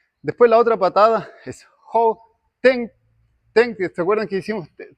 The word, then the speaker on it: 后蹬: Se escribe con D, pero se pronuncia como si fuese T.